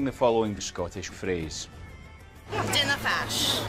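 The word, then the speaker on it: Dinna fash: Dinnafash. Dinnafash. Dinnafash. Fantastic pronunciation.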